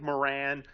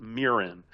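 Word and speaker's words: Miran: I some people it looks like Moran uh but it's more I believe it's pronounced Mirin. Sort of like Helen Mirren the actress.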